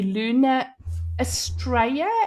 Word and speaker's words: Luna Astraea: Nice to see so many of you here again and huge huge huge welcome to Luna Australia. Am I right? Yes. Is it pronounced properly?